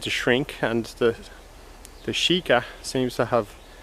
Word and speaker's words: sika: me sika means dear sheikah is the exact pronunciation in japanese so it's the deer